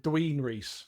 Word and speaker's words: Dwinrhys: And it rhymes with tween and Rhys. Okay, so what is that? Dween Rhys. Oh, okay. Oh, I feel bad now. It's all right. And rhymes with police.